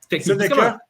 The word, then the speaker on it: Seneca: Lui, de la façon qu'il le prononce, c'est Seneca. Ouais, c'est comme un AE. Quand tu l'entends le dire, lui, c'est comme Seneca.